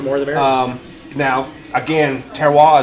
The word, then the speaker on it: terroir: Now, again, terroir is everything. I finally said that word right. I can never said it say it right.